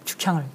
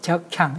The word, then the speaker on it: 죽향: 해외 시장을 들이다 보니까 프랑스 친구가 예. 담향은 좀 발음을 하는데 죽향을 적향 이렇게 발음을 해요.